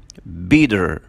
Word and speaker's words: Peter: لما يجي letter e وبعدين منه consonant وبعدين e, ساعتها بننطق ال e الاولى بننطقها long e, فنقول these Chinese Peter.